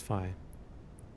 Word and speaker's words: phi: Fi. No. What is it called? Fi. That is fine. Fi. Thank you. Rhymes with fly or pi.